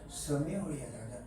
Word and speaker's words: Samaria: 사마리아 사마리아 발음 조심해야 되겠다. 사마리아 Samaria다. Samaria. Samaria, 사마리아 Learn of Rome, 런어 무엇에 뭐뭐에 대해 알다, 뭐뭐에 대해 배우다.